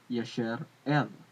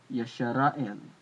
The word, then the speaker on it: Yisrael: Like here is what at the bottom is what I believe Yisrael should be pronounced as Yasher El, Yasher El, Yasher El, or maybe Yasharael.